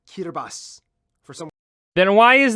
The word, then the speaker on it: Kiribati: cuter boss it's pronounced kirbas for someone then why is there a t in an i this is like the Welsh and Irish all over again weird reason the ti makes an S sound God language is stupid